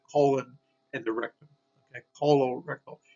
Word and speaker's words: colorectal: Colorectal, here's a C followed by an O, colorectal. And colorectal frequently is involving with a carcinoma in cancer. So colorectal involving the colon and the rectum. Okay, colorectal, C followed by an